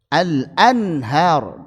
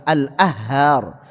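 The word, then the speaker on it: الأنهار: Al-anhar, enggak bisa al-ahhar atau al-anhar, enggak enak.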